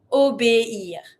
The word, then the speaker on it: obéir: Really dissociate the E with the high accent and the I R. Obéir.